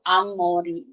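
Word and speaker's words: 앞머리: Jadi up Mori itu nanti akan dibacanya secara natural itu Amori.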